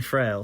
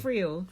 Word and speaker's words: Friel: Can I just say thanks to our environmental correspondent, Rowan Frail, for at bean_love. Is that how you pronounce it? Frail? Friel. Anna Friel.